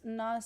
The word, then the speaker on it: nós: You can have two different pronunciations. It really depends on the accent. And I myself, sometimes I pronounce it in different ways. So sometimes I say nós. It could be nós, nós, just the letter S right after the O sound.